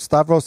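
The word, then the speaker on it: Stauros: last year it's called stavros it's about s-t-a-u-r-o-s and it's pronounced stavros because it's a greek word for the cross it's about the life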